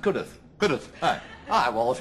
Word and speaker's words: Cudworth: Except it's pronounced Cudworth.